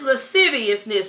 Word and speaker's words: lasciviousness: to go to lasciviousness come on people be pronouncing in all kinds of ways amen but it's lasciviousness praise God I'm glad I